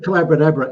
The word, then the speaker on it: Collabra: it's the mag it's called collabra it rhymes with uh abracadabra because uh I was